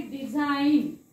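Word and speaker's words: design: फॉरेन तसं हा आहे डिझाईन डिझाईन okay डिझाईन इन पण मी ग वाचलाय का नाही कारण तो एन च्या अगोदर आला आहे आणि एन च्या आधी आला तर जी वाचायचा नाही नेक्स्ट लेटर एच तुम्ही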